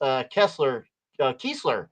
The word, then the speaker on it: Keesler: It has two E's pronounced Keesler. Thank you, Keesler Air Force Base.